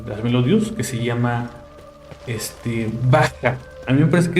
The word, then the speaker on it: Bach: Bach, su nombre se escribe Bach, tal cual si lo buscan en Google. Es Bach como se escribe, pero se pronuncia Bach, porque en alemán la Ch, la CH se pronuncia como J. Entonces no es Bach, sino Bach.